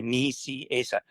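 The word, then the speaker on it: Nicieza: He would always say, "Ni, Asa." Ni Asa, it's not hard.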